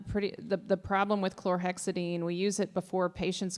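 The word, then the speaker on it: chlorhexidine: you say that word the chlorexidine oh it's chlorexidine chlorexidine is a good wound wash I mean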